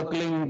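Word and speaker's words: क्लीं: की मात्रा और बिंदी उसका उच्चारण होगा क्लिंग ग ग की ध निकलेगी पीछे आप अंग बोलो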